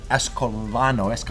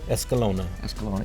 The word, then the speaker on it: Escalona: This is Escalano. How do you say that last name? Escalona.